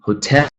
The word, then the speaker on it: hotel: Some of these exceptions would be hotel. You can clearly hear that stress falling on the second syllable, even though it's a 2-syllable noun. Hotel, lagoon, lagoon.